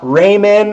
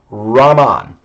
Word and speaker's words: Raman: to really point out that this is not raymond or ramen um i've right for 10 years i've been listening to students mispronounced this so this technique is named after chandra sikahara raman an indian scientist he won the nobel prize